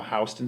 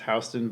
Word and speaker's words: Houston: about being how how houston street is pronounced houston but everybody else calls it houston street yes yeah new